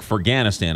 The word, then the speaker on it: Ferghanistan: name of the book for ganna Stan I apologize I was saying it wrong for ganna Stan